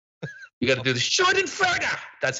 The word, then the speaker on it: Schadenfreude: By the way, people are correcting the pronunciation. Yeah, I am technically aware that it's Schadenfreude.